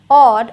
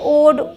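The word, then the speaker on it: odd: रॉड नॉट अब देखिए शुरू में आ जाए तो ऑफ ऑड अब हम इसे ओड ओफ नोट रोड नहीं बोलेंगे ऑ करके बोलना है बोल बोल कर प्रैक्टिस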